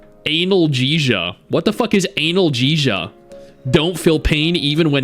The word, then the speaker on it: analgesia: It's pronounced analgesia.